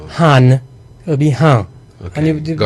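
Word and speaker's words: हाँ: So in Hindi I'll put H-A-A for a long A and an N to the end. But it's like in French, so it would be han.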